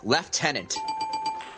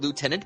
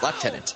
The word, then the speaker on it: lieutenant: love Canadian it is it isn't a Canadian pronunciation actually and it's a military rank left tenant that's a cool one too I like thaten you Americans call it Lieutenant but you're wrong it is L tenant yeah but it's spelled